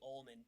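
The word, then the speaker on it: Olman: was used by the almond people who have been who have long since gone extinct how do you spell that it sounds like you said almond o-l-m-a-n all man he has all the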